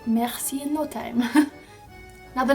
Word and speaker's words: merci: It is merci, which means thank you. Merci. Now you can see I have the h sound at the back of my throat when I say merci. It's a h, merci.